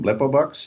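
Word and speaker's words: Blippo Box: really tickled me was a thing called a Blippu box. Is that Yep. is that the right name, right pronunciation for it? Yeah, that's fine. Blippobox, yes.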